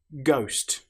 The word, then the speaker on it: ghost: Ghost. The letter H, as you'll notice, doesn't sound at all.